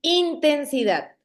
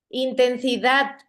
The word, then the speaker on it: intensidad: primera I, sonara así, intensidad. Es que yo soy muy En la intenso. A. Correcto, es en dat, es en la última sílaba. Intensidad. La sílaba que suena más fuerte es la última.